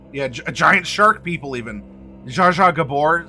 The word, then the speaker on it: Zsa Zsa Gabor: Zsa Zsa Gabor, say Zha Ad Ing. Zhang. Or let's see, no, Because it's a Zaza. No, it was Zsa Zsa Gabor, not Zaza Gabor.